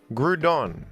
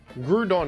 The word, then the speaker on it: Groudon: It's very clear that the OU, much like the words soup and group, is intended to be pronounced with an oo sound.